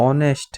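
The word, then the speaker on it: honest: करेंगे क्यों करेंगे क्योंकि इसका हिंदी जो उच्चारण है वह ऑनेस्ट है ऑनेस्ट इसको प्रोनाउंस इसका ऑनेस्ट होता है तो यहां पर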